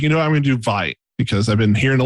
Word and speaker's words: Vite: So I was like, I'm going to do Vite because I've been hearing a lot about it. It's Vite. It's French. Vite. Yes. Okay. I always wondered that, so that's good to know. It's Vite.